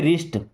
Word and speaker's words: wrist: Okay, अभी देखिए WRIST, इसे पढ़ते हैं रिस्ट।